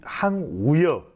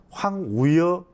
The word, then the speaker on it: 황우여: 먼저 우리 항우여 여러분들 발음을 조심해. 항우려 항우려 정말 신사예요. 네. 정말 풍격이 유지되는 분이에요. 근데 이제 그런 것 때문에 황우여 선관위원장이거든요. 관리는 황우여다.